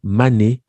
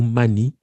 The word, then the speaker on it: Mandé: Alors, Delafosse indique que le terme mandé, menden, mandi, manding, est prononcé mané ou Mani par les habitants du Wassoulou, Malé ou Mali par les Soninké, donc c'est la forme usuelle que chacun connaît.